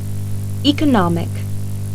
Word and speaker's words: economic: Например, при добавлении суффикса IC. ударение перемещается на слог, предшествующий этому суффиксу. Послушайте следующие пары слов. Artist. Artistic, Economy. economic, Scientist. scientific, Optimist. optimistic.